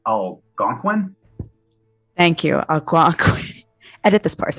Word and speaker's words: Algonquin: first nation myself but the anguan peoples elusive pronounced algonquin thank you edit this purse out please algonquin